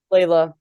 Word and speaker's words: Lila: If you ask a lot of high school coaches, but Lila, how do you pronounce her? Layla.